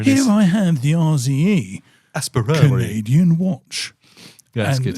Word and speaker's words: Aspirare: It's their tool watch, and it's called the Aspirare. Aspira? No, the Aspirare. The Aspirare. It's basically, it sounds like Aspire.